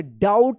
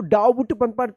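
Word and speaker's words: doubt: चलिए यहां पे देखिए डी ओ यू बी टी। इसको क्या पढ़ेंगे? डाउट पढ़ते हैं। डाउट। इसको डाउट बुट मत पढ़िएगा। यहां पे बी जो है ना क्या है? साइलेंट है।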